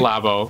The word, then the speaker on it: Labo: I think it's Labo. Labo. Yeah. Yes. Yes. Like laboratory, yeah.